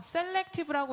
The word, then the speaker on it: 셀렉티브: 그래서 셀렉티브라고 읽으시는데 세포 활성화라는 의미를 담고 있습니다. 그래서 전체 명칭을 한번 기억을 해주시고 한글로는 셀렉티브 스킨케어라고 읽어주시면 될 것 같습니다.